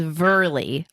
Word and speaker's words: Verley: my maiden name was verley like very but with an L in it see so you're used